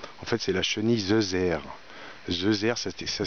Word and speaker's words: zeuzère: voulais en parler en fait c'est la chemise 2h 2h c'était ça s'écrit Z u Z e accent grave re